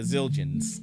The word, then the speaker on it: Zildjian: Yes, the Zildjians. Is that how you say that? Zildjian, yeah.